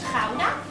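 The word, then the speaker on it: Gouda: as i told you the type of cheese we make is a kudai actually uh we pronounce it as hauna now in this net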